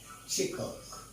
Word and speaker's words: শিক্ষক: আচ্ছা, এখন দেখেন ভাই, খেয়াল করেন, মনে করেন আপনার একটা শব্দ আসছে শিক্ষক, এটি কিন্তু আপনি এভাবে লিখতেছেন শিক্ষক। এখন এটি কিন্তু বানান, এখন এটাকে আপনি উচ্চারণ করতেছেন, আপনি কিন্তু বলতেছেন শিখ।